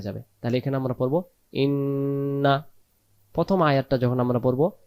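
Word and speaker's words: إنا: উচ্চারণ করতে হয়, তখন এই আলিফ অক্ষরটা বাদ চলে যাবে। শেষের যে শেষের আয়াতে যে ইন্না রয়েছে এটাকে তাড়াতাড়ি পড়বো, শুধু গুণনা করবো ইন্না ইন্না।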